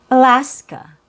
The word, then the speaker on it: Alaska: So, we have Alaska. Alaska. Same idea. We have three syllables. There are three A's in the spelling. The middle A has a real vowel sound.